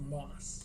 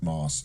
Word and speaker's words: Mauss: It's pronounced Moss. Moss.